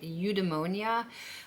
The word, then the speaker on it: eudaimonia: Now, the good life is a mix between pleasure and leisure, and it's heavily connected to, I think I'm pronouncing this right, eudaimonia, which is heavily associated with like Greek philosophy and Aristotle, and I'm gonna explain what I mean here.